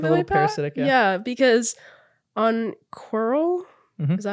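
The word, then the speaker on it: Quirrell: he's like a little parasitic yeah because on qul is that how you say his name yep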